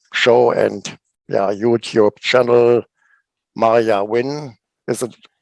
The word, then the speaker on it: Maiah Wynne: rock bottom radio show and yeah youtube channel maria win is it pronounced rightly yes okay from of the band